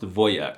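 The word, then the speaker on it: wojak: They can be manly like the word for soldier in Polish which is wojack. I'm not even kidding. The wjack meme and the word are Polish, but it's actually pronounced voyak which is the most alpha Slavic masculine thing I've heard all month.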